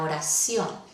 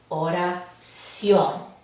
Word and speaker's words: oración: acción son tres sílabas vamos a probar si va la sílaba tónica en posición última oración y si vemos que la palabra oración llegar lentas y al final entonces es una palabra aguda vemos que esta última